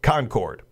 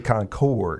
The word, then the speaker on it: Concord: Gallagher, whose preferred pronunciation resembles the word conquered, ran into some opposition